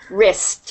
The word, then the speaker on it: wrist: It's pronounced wrist.